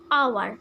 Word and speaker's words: hour: pronunciated the word like hour i have skipped the word h that's why that is called mute h okay now there are